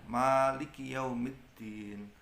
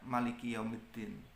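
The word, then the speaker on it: مالك يوم الدين: Jadi dibaca panjang, Maliki Yaumiddin, tidak Maliki Yaumiddin.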